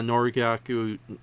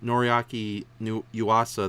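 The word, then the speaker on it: Noriaki Yuasa: psychopaths that they are tried to get uh norigaku damn said his name wrong noriaki new yuasa the director of the old gamer movies and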